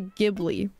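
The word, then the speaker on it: Ghibli: text I know that some people say gibli but I think it's jibli I've like I've watched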